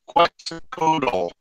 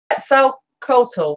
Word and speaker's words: Quetzalcoatl: Now, Quetzalcoatl is spelled Quetzal, TL, and I know I'm pronouncing that wrong. Oh, what is it, Lenny? Yes. The way that one is Quetzalcoatl, I believe. Quetzalcoatl, thank you. Kukulkan, K-U-K-U-L-C-A-N.